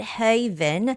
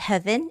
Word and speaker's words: Haven: I was getting there the word Haven it's not heaven it's not heaven but it's Haven Haven okay oh we have